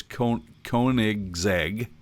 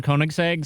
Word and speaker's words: Koenigsegg: And I'm going to try to say this and pronounce this correctly. I believe it's Koenigsegg.